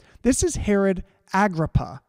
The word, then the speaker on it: Agrippa: name this is Herod Agrippa I might be pronouncing that wrong all you you know Aramaic scholars out there but I think it's Agrabah I know the spelling and Herod Agrippa was